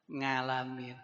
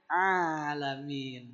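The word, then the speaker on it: العالمين: Jadi baca hamdalah dibacanya alhamdulillahiabbil ngalamin. Amin. Opo pak? Harusnya bukan ngalamin tapi a pakai ain alamin.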